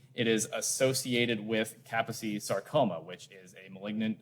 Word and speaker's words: Kaposi: Kaposi's sarcoma virus, did I say it right? Not Kaposi's sarcoma, Kaposi. Very important Hungarian pronunciation, is human herpes virus 8. It is associated with Kaposi sarcoma, which is a malignant neoplasm of blood vessels.